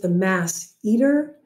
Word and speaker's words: masseter: orbicularosaurus and the buccinator the masseter the masseter my tas very often will pronounce it the mass eater so that people can remember it's this one right here this